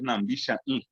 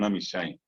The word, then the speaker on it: nambishain: En guaraní es namishain. Bien pronunciado es nambishain. Y después con el tiempo se convirtió en namishain.